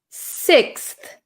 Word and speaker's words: sixth: We pronounce this word sixth, sixth, sixth, sixth. Okay, so this is quite a difficult word. We have an X. X is pretty rare in English.